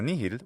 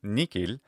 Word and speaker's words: nihil: of these words so nihid with a nice h sound as in english is an excellent classical pronunciation of that word now there's ways that